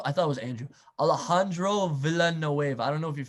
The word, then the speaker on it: Alejandro Villanueva: Alejandro Villanueva.